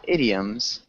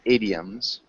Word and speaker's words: idioms: it idioms adums yeah idioms hium close yeah so remember it there's no h sound it's just a short I so idioms idioms MH good idioms